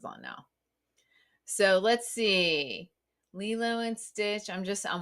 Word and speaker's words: Lilo: right is that how you say it yeah Lilo um Lilo Stitch oh my gosh she's so